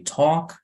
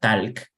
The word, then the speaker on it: talk: So first, when you say the verb talk, realmente la L no suena, ni siquiera en presente, la L en talk. So you say talk, talked. Again, if this is challenging for you, don't worry, you're not alone.